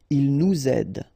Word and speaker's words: il nous aide: verb, in that case, you should make the liaison between the two. Il nous aide, elle vous admire, all right? So, z, z here as well.